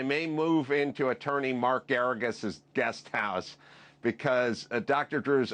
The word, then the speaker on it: Geragos: Drew, but in breaking news, I may move into attorney Mark Geragos' guest house because Dr. Drew's almost out of protein bars. Mark Geragos rhymes with asparagus?